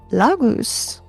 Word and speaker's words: Laguz: Laguz l a g u z is water.